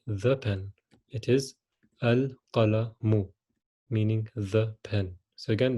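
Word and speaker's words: القلم: how do you say the pen it is al color mu meaning the pen so again the same example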